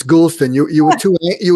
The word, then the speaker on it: Goulston: and um dr gulstan say tell me the pronunciation gulstan it's gulstan you you were too you were too anxious